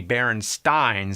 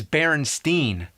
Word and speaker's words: Berenstain: Actually, the most likely pronunciation would be Berenstain, since it was spelled the same way like Frankenstein. But everybody I ever met says Berenstain.